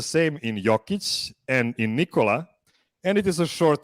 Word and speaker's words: Nikola: i'm the only person on this show that pronounces his name correctly you can say it you can say it yeah so nicola yeah that's very important to me okay let's